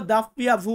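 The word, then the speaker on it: doppia vu: পিয়াভু আমরা ডাব্লিউ বলি বা ডাবল ইউ সঠিক উচ্চারণটা হবে ডাবল ইউ ডাবল ইউ এটাকে বলবো দাপ্পিয়া ভু বা দাপ্পিয়া তারপর আছে এক্স যেটাকে আমরা এক্স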